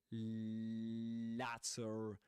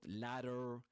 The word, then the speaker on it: latter: you won't expect him to say latter not ladder right but latter because of his accent it looked prosperous and it looked prosperous it looked looked prosperous.